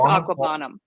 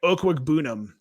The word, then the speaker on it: Okwuegbunam: Didn't we say I thought it was Aquabanum. Didn't we say that all last year? Nate just switched. Yeah, we did. For us but he put the pronunciation in his Twitter profile, his Twitter bio. So yeah, it's like Okwuegbunam.